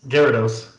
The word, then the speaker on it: Gyarados: so my favorite pokemon of all time is gyrados or jirados i know how to pronounce it yes gyarados gyarados and this is for two reasons number